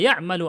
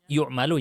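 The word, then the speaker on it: يَعْمَلُ: Wa ya'malu 'amal al-af'al al-arba'ati al-ula mudhari'uha. Tadi saya bacanya yu'malu ya, itu salah bacanya. Ya'malu harusnya.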